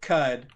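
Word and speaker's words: Qud: 15 years caves of cud uh one of the best Rog likes out there cud is spelled with a q q u d uh left early access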